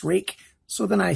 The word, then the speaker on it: Ruike: you pronounce their name and they say it's pronounced rake so then I say it's pronounced reek let's do the rest of the measurements here